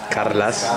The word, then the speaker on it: Carlos: ¿Cómo pronuncian Carlos en catalán? Carlas. Carlas, lo pronuncian con esta, no es una O, es